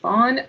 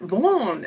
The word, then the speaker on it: Vaughan: It's Welsh. And the Kiwis said it better than I could. Vaughan.